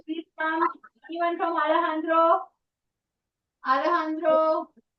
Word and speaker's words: Alejandro: Alejandro. This is a Spanish pronunciation. So for them it's Alejandro. Alejandro. They never say Alejandro.